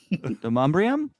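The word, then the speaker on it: Demonbreun: Demumbrium?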